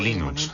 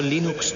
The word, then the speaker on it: Linux: La primera pregunta de la categoría fácil es, ¿cómo se pronuncia Linux? Bueno, yo Linux lo pronuncio Linux. Sin embargo, si fuese Linus Torvalds, no hay duda de que lo pronunciaría Linux. Claro que si uno es de la costa oeste de los Estados Unidos, lo más seguro es que lo pronunciaría Linux. Pero a Linus Torvalds le importa un bledo cómo pronunciéis Linux siempre y cuando lo utilicéis.